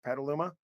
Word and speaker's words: Petaluma: You grew up playing rugby in Petaluma, California. I think I said it right. Correct? Petaluma?